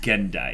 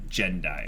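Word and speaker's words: Gendo: there was that and it's pronounced gun die it's not gen die yeah or Jenna hardened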